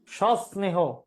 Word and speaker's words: সস্নেহ: মনে হইতেছে ভুল কোথায় এটার উচ্চারণ হবে এরকম সনেহ স্নেহ সস্নেহ এই যে এখানে স দুইটা হবে সস্নেহ দন্তস নিচ্ছে হস তারপর আবার স্নেহ বুঝতেছি বুঝছি জি স্যার